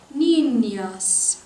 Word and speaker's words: niñas: Niñas. Will you say that? Niñas. And you notice how that S is pronounced like an S because it is niñas.